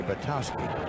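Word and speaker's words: Zeke Bratkowski: Bratkowski played his college football at Georgia, where they called it Bratowski. I went in to broadcast a football game there one time and asked about the pronunciation. They said silent K, Bratowski.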